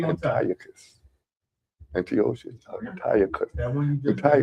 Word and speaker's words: Antiochus: Antiochus. Antiochus. Antiochus. That one you just. Antiochus is closer because it has a CH.